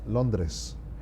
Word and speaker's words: Londres: In Spanish, we say it Londres.